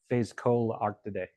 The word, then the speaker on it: Phascolarctidae: Ones with the koalas, which let me try to pronounce. Phasochlorarctidae, I think. Yeah, Phascolarctidae.